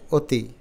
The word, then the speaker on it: অতি: অর স্বীকারে তি অতি কিন্তু আমরা তো বলি না আমরা তো বলি অতি তার মানে আমাদের ঠোঁটের উচ্চারণে যেভাবে ক্লিয়ার আসে সেভাবে উচ্চারণটা লিখতে হবে মূলত এটা ব্যাকরণিক নিয়ম আছে যেমন অধ্বনির পরে যদি রস ই ধ্বনি থাকে বা দীর্ঘ ই ধ্বনি থাকে তাহলে অধ্বনি ও ধ্বনির মত উচ্চারিত হয় তো ব্যাকরণগত এই নিয়মগুলো